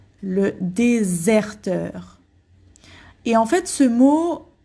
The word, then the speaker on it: déserteur: Ici, le S, on prononce comme un Z en fait, hein, comme un Z. Le déserteur.